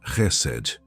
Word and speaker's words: Hesed: A palavra é Resed. Pronuncia-se Resed.